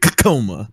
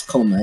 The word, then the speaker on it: Koma: Is it Koma or is it Kakoma? No, it's Koma. It's pronounced Koma.